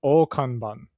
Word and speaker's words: Akane-Banashi: By the way, I think it's pronounced Okanban.